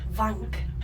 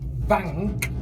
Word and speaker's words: Wank: Yeah, it's because it's pronounced with a V, love. Wank.